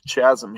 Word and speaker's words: chasm: And so with Correa coming back and being, on a long-term deal, and then Popkins being, I feel like there's a chasm here chasm.